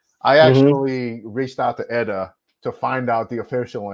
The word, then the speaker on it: ETA: ETA or Eda I actually reached out to Eda to find out the official answer and it's pronounced Eda not ETA not that yeah it doesn't matter right nobody